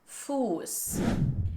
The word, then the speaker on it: Fuß: for river, Fluss, versus Fuß, which means foot, and this has a long stretched U sound, Fuß.